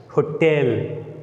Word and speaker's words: hotel: Hotel. Here the first syllable ho is a weak one and tel, the second syllable, is a strong one. So here we give extra force to tell.